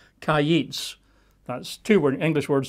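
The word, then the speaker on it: קַיִץ: a single Hebrew word, which you pronounce as kayits, which you would spell in English letters as Q-A-Y-I-T-S, kayits.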